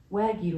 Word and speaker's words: wagyu: wagu good morning Brad wagu is pronounced wagu first syllable like wag and second like you wagu wagu is pronounced